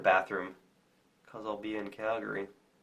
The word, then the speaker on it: Calgary: cuz I'll be in Calgary or Calgary as they pronounce it see yall in a